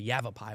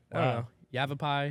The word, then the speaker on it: Yavapai: as well Yavapai yes are you sure you're pronouncing that right yeah you have a pie you have a pie it's why it really sounds Hebrew okay I don't know